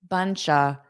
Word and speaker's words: bunch of: Notice here instead of saying bunch of photos, a native will connect bunch of bunch of buncha. So we'll turn that of into a bunch of I had to delete a bunch of photos.